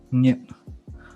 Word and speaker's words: 熱: 熱. So with a stop at the end.